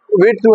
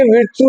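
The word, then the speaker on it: virtù: अच्छा, ये विर्चू नहीं है, मोस्टली हम इसको मिसप्रोनाउंस कर देते हैं, विर्चू नहीं है। एक होता है हमारे इंग्लिश में विर्चू, विर्चू जिसका मतलब होता है, जिसकी मीनिंग होती है नेकी।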